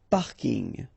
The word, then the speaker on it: parking: So I know it's coming from English, but still you should pronounce it the French way. Parking.